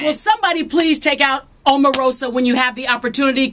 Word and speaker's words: Omarosa: If you have the chance to get rid of Omarosa, did I say it right?